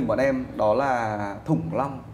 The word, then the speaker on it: Thủng Long: Thủng Long thứ nhất là nó rất là khó đọc. Nó là âm đóng, thủng, đúng không? Đúng không? Tại sao lại đọc là Thủng Long?